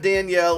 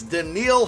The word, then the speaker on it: Danielle: I get it right it's not Danielle it's not Danelle it's not Daniel it's the Neil Hunter we got it and